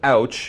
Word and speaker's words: Outch: So it's Outch. We've got the Outch ointment, and then Ouch, spelled with a T, O-U-T-C-H.